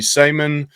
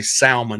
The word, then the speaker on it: salmon: Like you may be going on a salmon uh bake or uh I want to say salmon. Everybody says you got you don't pronounce the L, Mike.